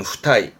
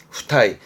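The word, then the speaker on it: 付帯: 발음은 후타이, 후타이.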